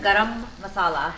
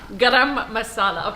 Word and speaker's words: garam masala: I say it a little bit more Indian. Garam masala. Garam masala. Okay, I'll You have to roll your R's, guys.